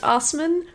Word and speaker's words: Assmann: The next one is Hans Assmann. Hans Assman? It is pronounced Assmann, but it is spelled Assman.